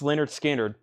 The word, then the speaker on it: Lynyrd Skynyrd: that one was 44.99 Lynyrd Skynyrd pronounced Leonard Skynyrd this needs to go